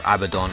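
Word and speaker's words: Abaddon: We'll fight Abaden or Abbadon as people call him, but I I pronounce that as a baden thanks to um my time with 40k as a kid and pronouncing it wrong then.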